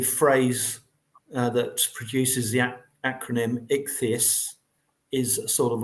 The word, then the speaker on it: Ichthys: Ichthys. Thank you. What's that again? Ichthys. Ichthys. Ichthys. Thank you. It's like an ichthyosaurus.